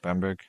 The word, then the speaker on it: Bamberg: How do you pronounce that? Yes, Bamberg.